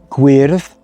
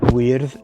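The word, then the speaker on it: gwyrdd: other hand has this masculine and feminine queerth guerve notice that the light sound is in the feminine guard and the dark sound weird is in the masculine and you'll see that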